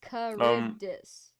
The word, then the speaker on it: Charybdis: Everyone's been saying it this Charybdis? whole time, and it just doesn't sink in my brain. I have a problem. It's Charybdis. Charybdis.